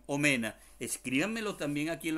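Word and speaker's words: omena: como si sin fines se dice o mena y se escribe tal y cual como los cogen o mena escríbanme lo también aquí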